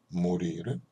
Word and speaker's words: morir: 그럼 노래하실 때 꼭 끝에 알 발음 다 해주셔야 됩니다. mi sento morir.